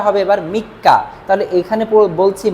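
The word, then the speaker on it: 三日: আবার মনে করেন যে এই সান শব্দটা লিখে এরপরে যদি নিচির কাঞ্জি লিখি, নিচি, তাহলে এই উচ্চারণটা হবে এবার মিক্কা। তাহলে এখানে বলছি মিক্কা, এখানে বলছি সান নিন।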